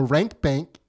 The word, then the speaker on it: Rank Bank: So come check us out for $1 and check out The Rank Bank, which is Dave's podcast.